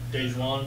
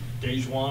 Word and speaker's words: DaJuan: So, DaJuan, before we get going, DaJuan, am I pronouncing that correct?